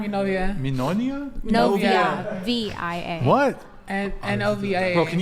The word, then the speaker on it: novia: Novia. Minonia? Novia.